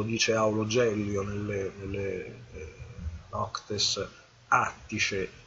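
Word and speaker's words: Atticae: Questo lo dice Aulo Gellio nelle Noctes Attice, o Attiche se dovete pronunciarlo alla maniera classica, un trattatello sul calendario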